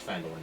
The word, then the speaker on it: Phandalin: the other campaign is actually pronounced folin not Falin fand I know that was